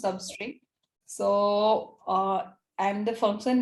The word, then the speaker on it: SUBSTR: the use of sebastia basically service TR we commonly pronounce substrate so uh and the